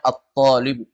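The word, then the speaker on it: الطبيب: Al asar at contohnya atbib enggak dibaca thbu karena ini huruf Syam Apa artinya Thalib dokter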